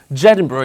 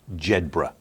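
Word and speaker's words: Jedburgh: former copper he's 56 from jedinborough in scotland and he's going around collecting bricks it's pronounced jedbra zebra yeah well this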